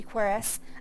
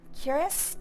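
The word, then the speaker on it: Corprus: Quorice is one of my favorite words. I didn't know how to say it uh until I started actually playing this on stream. I did not know it was supposed to be chorus. I always said uh curus.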